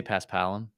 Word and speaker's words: Paspalum: I say Paspalum.